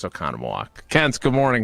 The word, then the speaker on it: Oconomowoc: Let's go to Kenton Oconomowoc. No, I know how to say that one. It's Oconomowoc.